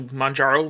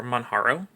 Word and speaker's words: Manjaro: I'm currently booted into Manjaro Linux, or Manjaro. I've heard it pronounced both ways.